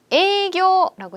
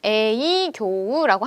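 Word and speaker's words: 営業: 발음해 볼게요. 에이교라고 해요. 자, 이거 에이교우라고 하셔도 되는데요. 연음 처리를 해요. 그래서 에이교라고 합니다.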